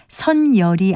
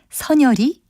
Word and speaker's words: 선혈: 니은을 첨가해서 색연필이라고 발음합니다 그런데 앞서 말씀드린 선혈의 경우는 색연필이란 말과는 다르게 합성어가 아니고 하나의 단어입니다 따라서 선열이 아니라 니은을 첨가하지 않은 선혈이 맞는 다름입니다 그리고 군대에 안 가기